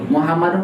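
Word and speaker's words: مُحَمَّدٌ: Dibacanya Muhammadu atau Muhammadun? Muhammadun karena nggak mau disandarkan.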